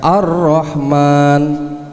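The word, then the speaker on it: الرحمن: Rohman Wa ada Rohman tulisane al-rahman membacanya ar-rahman hai al-ta'rif Hai ingat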